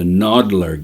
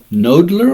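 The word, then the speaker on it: Knoedler: but art in general nodler or noddler uh I call it nodler I believe that's how they pronounce it they were active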